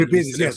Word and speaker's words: Evriviades: Evripides, is that am I pronouncing it correctly? Evripides, yes, and without the Mr.